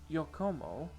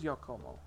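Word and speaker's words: Giacomo: Their boss, Yokomo, I think that's how it's said. Because it is a Spanish name. Yeah, I think that's it as Yokomo.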